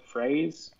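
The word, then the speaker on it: fraise: first oh strawberry i don't know how to say this i'm not going to be able to pronounce it right isn't it like phrase f-r-a-i-s-e that's how yeah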